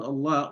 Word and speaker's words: Allah: And so the word Allah, the lam in the word Allah will be pronounced heavily if the vowel sound that comes before it is having dhamma or is a dhamma or a fatha, the word Allah will be pronounced heavily. However, if the nearest letter, the vowel sound that comes before it, it's a kasra, and then the word Allah is going to pronounce lightly.